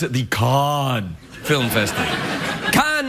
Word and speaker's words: Cannes: Cannes is the French pronunciation. If you say Cannes, it really pisses off French people. So I always say Cannes.